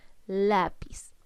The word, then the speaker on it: lápiz: Por ejemplo, la palabra lápiz. Vamos escribiendo la palabra lápiz. Reconozco que la palabra lápiz tiene 2 sílabas, pero debo identificar primero dónde cargo la voz. ¿Dónde estoy cargando la voz? En la.